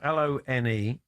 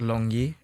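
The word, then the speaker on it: Lon'Er: So, how's it pronounced? Because people call you Lon or Lonnie, but how's that pronounced? So yeah, most people will call me Lon or Lonnie, but I think so it's a Chinese name. My mum's Chinese. Right. So it's pronounced Long Yi in Chinese.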